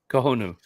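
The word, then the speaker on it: Cojonu: Kohonu. It's pretty. I should have had Nick pronounce that one. Yeah, you could say cojo, but coo because you remember the J is a the J is an H.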